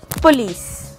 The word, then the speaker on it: police: The right pronunciation is police.